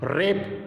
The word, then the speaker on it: wrap: ऐसे ही रेप, WRAP, रेप, इसमें W silent है।